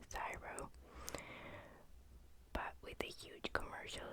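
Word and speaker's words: CSIRO: were granted to s c s i arrow pronounced zyro but with the huge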